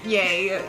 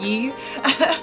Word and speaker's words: Ye: Yay. You know, that's funny because, like, I would see it in writing and I would pronounce it as Yee.